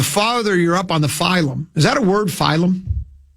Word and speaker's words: phylum: Phylum. How about the PHY version? Oh, what is that? Apparently there's two that are pronounced the same way.